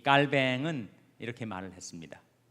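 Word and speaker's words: Calvin: 그래서 이 요즘은 켈빈은 영어식 발음이기 때문에 그 사람이 본래 이름은 깔뱅이라고 하죠. 깔뱅. 프랑스로 철자는 같아요. 프랑스로 이 발음을 하면 깔뱅이 되기 때문에 옛날처럼 요즘은 켈빈이라고 안 하고 깔뱅이라고 하는 이름이 더 많이 쓰여집니다.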